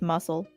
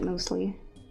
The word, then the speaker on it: muesli: If I tried to pronounce it, it would just come out as muscle. Oh, I would have pronounced it muesli.